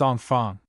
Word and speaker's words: enfant: Means children, spelled infantes, pronounced enfant.